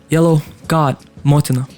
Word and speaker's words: YELLOGODMOTINA: So first of all, the pronunciation of my name, YELLOGODMOTINA.